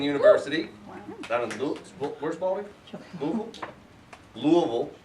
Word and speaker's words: Louisville: that where's balding Louisville Louisville is how you say that not Louisville that's wrong incorrect uh her work has